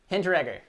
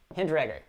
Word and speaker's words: Hinteregger: Hinteregger. Man. It's challenging, but the E is silent. Hinteregger.